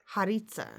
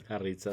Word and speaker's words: Jarritzas: So, Jarritzas. Jarritzas. I said it right.